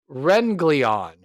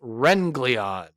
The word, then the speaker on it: Wrenglion: Renleon, which is spelled Wrl I O N, and it's pronounced Renleon.